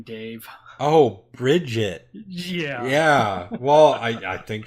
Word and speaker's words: Brigitte: of French bread say her name Dave Oh Brigid yeah yeah well I think she's on the